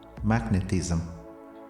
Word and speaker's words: magnetism: proportion proportional proportion proportional magnetism we stress the first syllable mag magnetism not magnetism but it's a magnet